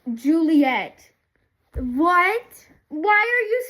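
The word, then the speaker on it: Ghiuliyette: Yeah, it's like I'll I'll either underline that or it's spelled G H I U L I Y E T T E pronounced Juliet.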